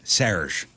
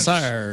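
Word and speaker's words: Serj Tankian: When I interviewed Serge Tankian, he said, it's Serge. Serge. I went, Sir.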